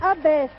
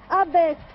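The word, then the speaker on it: Abbès: Alors, il faudra aller à un hameau de Tozeur qui est sur la carte, qui s'appelle Abès. Alors, attendez, redites-moi. Abès. Et ça s'écrit comment?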